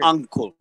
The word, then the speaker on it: ankle: surely is terrible but how you separate uncle the family relationship and ankle uncle one is with you as an umbrella okay yes i know but the pronunciation okay ankle ankle yeah with an a so ankle ankle okay uncle ankle okay well you can say